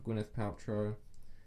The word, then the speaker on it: Gwyneth Paltrow: So watch out for Gwyneth Paltrow. That's how you pronounce her name.